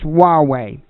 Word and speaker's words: Huawei: say the company's name I've been saying well I don't know if it's Hawaii or or what it is exactly its Huawei Huawei that's that's how it's pronounced promises even I couldn't